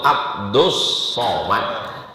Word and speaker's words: Abdus Somad: Yang betul itu Abdus Somad. Tapi kenapa ditulis Abdul Somad? Itu ejaan Inggris. Kalau ejaan Arabnya Abdus Somad.